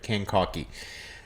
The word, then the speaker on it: Kankakee: Staff's wife told me how to say this right. Kankaki. Incursion 2. She actually texted me with a voice message and admonished me for not having to say it, like phonetically announced it to me.